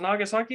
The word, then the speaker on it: Nagasaki: i was like was i wrong to pronounce it nagasaki but no i was right for whatever reason i